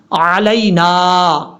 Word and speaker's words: علینا: یہ بھی آئین ہے، اس کو حمزہ نہیں پڑھنا، علینا، علینا، وعلا، واو کے بعد آئین پھر آ جاتا ہے تو اس کو آپ نے کلیئر کر کے پڑھنا ہے، وعلا عباد اللہ